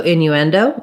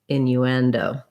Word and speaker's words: innuendo: that um okay so innuendo again you can start on the stressed syllable endo innuendo you want these two to be short and this one to be longer and stretched out and have the clear vowel great question thank you